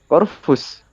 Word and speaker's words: Corvus: Terus ini yang bener gimana? Caranya bacanya? Corvus. Corvus. Corvus. Oke, Iya. Corvus. Ini teman-teman udah kejawabkan gimana cara bacanya, ternyata Corvus.